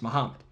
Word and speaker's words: Muhammad: It might be a single or a double m, but it's pronounced the same way. It's Muhammad.